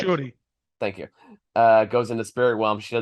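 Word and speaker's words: Shuri: So yeah, when okay, Letitia Wright character Suri, I know I'm mispronouncing that, but Shorty.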